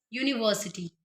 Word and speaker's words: university: The university pronunciation is giving the sound of U, year, and it is a consonant.